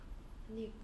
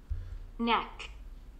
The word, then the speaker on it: neck: Nick. Nick? 발음이 Nick이라는 거예요? Speaking 안 했지 너. Neck. Neck. 이렇게 이게 Nick이 됩니까? Neck이지. Neck.